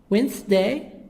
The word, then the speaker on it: Wednesday: Monday, Tuesday, Wednesday, Wednesday, D silent.